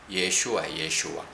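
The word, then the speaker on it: ישוע: 그런데 이 예수는 히브리 발음으로는 예슈와. 그리고 이분의 다른 별칭으로 우리는 그리스도라고 그러죠.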